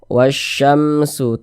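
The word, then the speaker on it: والشمس: Jadi cara membaca huruf "lam" ini adalah, ia diasimilasi . Jadi, cara membacanya adalah dari huruf "wa" yang langsung masuk ke huruf "syin" ini. " Wasya" langsung masuk di sini.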